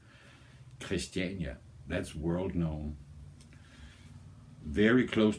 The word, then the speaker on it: Christiania: chist christania you know I'm just going to say it like we do in Denmark so don't say it in a wrong way Christiania that's World known very